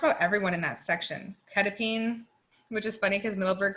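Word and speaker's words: quetiapine: Ketapine, which is funny because Middleburg calls it quetapine, and it cracks me up because I'm in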